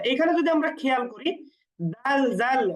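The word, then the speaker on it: دال: প্রয়োজন হয় সেই হরফকে আমরা অতিরিক্ত টান দিয়ে উচ্চারণ করব এজন্য দাল এবং একটু টান দিয়ে উচ্চারণ করব পরেরটা হচ্ছে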